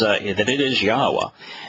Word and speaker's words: Yahowah: And it took me one really focused day to prove conclusively that it is Yahowah.